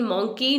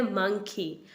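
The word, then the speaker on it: monkey: बंदर को इंग्लिश में मॉन्की कहते हैं हम, लेकिन मॉन्की नहीं है इसकी प्रोनाउंसिएशन, इसे हम बोलते हैं मंकी, मंकी।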